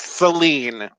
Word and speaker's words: Celine: When did Celine Dion ever? I'm gonna throw this out there. Nobody in the U.S. pronounces it Celine because we've all been taught it's Celine. No, it is Celine.